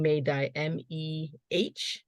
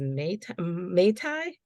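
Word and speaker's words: mei dai: So I'm saying May-dye, Mhm. Mehdai. You might have also heard it as May-tai, but people also confuse that with Mai Tai, the drink. But phonetically speaking, May-dye or Bay-dye is a more traditional term for them.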